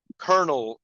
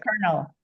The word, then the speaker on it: colonel: Uh Natalie, you pronounce the word Colonel Sanders. It's Colonel, not Colonel. I don't even So Colonel is a rank in the military, right? So it's not pronounced how it's spelled, right? Colonel.